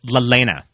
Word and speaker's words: Lelaina: We keep pronouncing her name wrong, and I guess it makes sense because it's a weird name. Who? It's Lelaina.